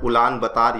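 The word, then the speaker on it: Улаанбаатар: दोस्तों मंगोलिया का जो कैपिटल है इट is called as उलान बतार या फिर उलन बतौर, इसको अलग अलग तरीके से प्रोनाउंस करते हैं।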